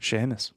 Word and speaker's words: Seamus: call him Seamus or do you call him Sheamus Sheamus okay good because it's spelled Seamus you know Ireland will